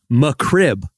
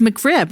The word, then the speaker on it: McRib: My thing is she keeps saying mccri. Like that's what I thought she was saying. McCrib like it's my crib. Yeah. Oh yeah. She can't pronounce it. But it's McRib, right?